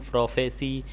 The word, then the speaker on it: prophecy: Is there a difference in pronunciation between the noun prophecy and the verb prophecy? Yes, the cy in the noun is pronounced si as in sit, and the c c in the verb is pronounced like sing.